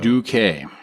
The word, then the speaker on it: Duque: Yes, it's pronounced Duk. Douquet.